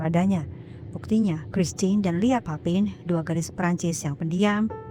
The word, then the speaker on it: Papin: Oh ya, sepanjang video ini saya izin untuk menyebut mereka papin karena lidah Sunda saya tidak sanggup untuk menyebutnya dalam pronunciation bahasa Perancis yaitu Papang.